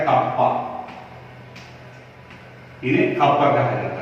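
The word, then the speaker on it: kappa: अब इसे की जगह पर इनका प्रोनाउंसिएशन होता है कप्पा, इन्हें कप्पा कहा जाता है, एंड इट is just inverse of a specific resistance।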